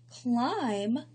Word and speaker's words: climb: So we have the word comb, the B is silent, climb, the B is silent, walk, the L is